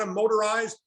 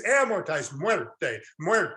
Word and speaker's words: amortized: by far the most mispronounced the second most mispronounced is amortized it's not a motorized or amoretized it's amortized anybody speak spanish in here muerte what's it